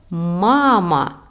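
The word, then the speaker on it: мама: Alors, mama. Maintenant, vous comprenez que la syllabe accentuée est la première ma.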